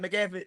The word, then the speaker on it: McAfee: It's McAfee.